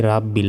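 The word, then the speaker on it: رَبِّ: এ লাতে এক সেকেন্ড টেনে পড়তে হবে আলহামদুলিল্লাহি রব্বিল রব্বিল অনেকে বলি রাব্বিল এটা ভুল রব্বিল কি বলতে হবে রব্বিল আলামিন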